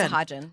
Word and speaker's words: Sahajan: So how do you pronounce it? Is it Sahajan or no, Sahajan? I say Sahajan.